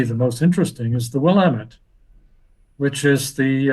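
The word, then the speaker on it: Willamette: um by the way I learned how to pronounce willamet from a person lady from Oregon I was calling it willamet she says no no it's wamit right sorry it's wamit okay now the wamit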